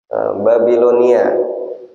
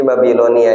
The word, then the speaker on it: Babilonia: ini jangan diputus bacanya. Kalau diputus salah jadinya bacanya. Babilonia. Di Babilonia ini adalah sebuah kota yang peradabannya sangat maju sekali ketika itu.